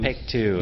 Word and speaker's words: Paektu: Mount Paektu. Paektu. You have to pronounce it like that. They always have this sing-songy thing.